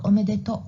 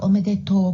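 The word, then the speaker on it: omedetou: is clear improvement point you pronounce like omedetto gozaimasu arigato gozaimasu you should pronounce like omedeto gozaimasu arigatou gozaimasu you'll be better 332 comments were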